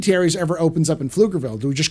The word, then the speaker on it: Pflugerville: a local um um Pflugerville has a has like a I think it's like a p in front of it it's like PF is how you say it but the p is silent so um there's a